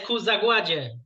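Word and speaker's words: Ku Zagładzie: It's Kuzagladzi. Is that how you say it? Yes, Kuzagładzie.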